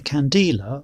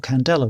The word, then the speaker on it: candela: In 1948, the candela or candela was born. The pronunciation varies even between dictionaries. Whichever way you pronounce it, it was derived from